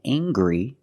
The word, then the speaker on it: angry: Anger is a noun, and angry is a description. I can say he's very angry. We use the nasal sound, plus the hard G.